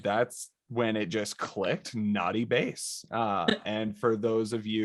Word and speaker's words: Nauty: And that's when it just clicked, naughty bass. And for those of you with any visual impairments, that's spelled Nauty, like the last half of astronaut, or like nautical, because there's some deep sea vibes too with it.